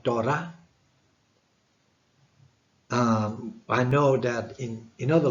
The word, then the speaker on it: Torah: For example, when you say the word Torah in English, in Hebrew you don't pronounce the th like the English would do. So it would be something like Torah.